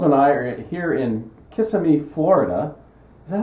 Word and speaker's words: Kissimmee: Puddles and I are here in Kissimmee, Florida. Is that how you pronounce it, Eric?